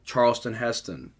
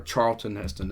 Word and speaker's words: Charlton Heston: got awesome performances by charles charleston heston or charlton heston is it charlton heston i keep saying his name wrong charlton heston i keep